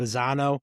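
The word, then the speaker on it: Bazzana: Bazano.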